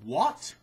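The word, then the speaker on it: Wot: dedicated to chaos and it's called what we do what is spelled w-o-t this was kind of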